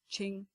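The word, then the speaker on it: Qing: um this the um q is pronounced um ch so um ching like ching dynasty i've got a slight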